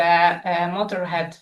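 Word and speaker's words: Motörhead: and that's the quote of the Motorhead frontman. They said that the trema, the umlaut, is used only to look mean. It doesn't supposed to be pronounced Motorhead.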